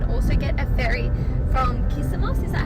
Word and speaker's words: Kissamos: alternatively you can also get a ferry from kissamos is that how you pronounce it yeah so there's two options there